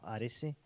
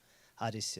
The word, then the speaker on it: OHDSI: in the context of Odyssey as an open science community. So Odyssey, it's pronounced as Odyssey, it's spelled OHDSI, stands for Observational Health